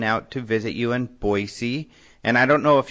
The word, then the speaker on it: Boise: because Maureen went out to visit you and Boise and I don't know if you noticed and spacing out last week I said Boise I didn't notice that but good job dude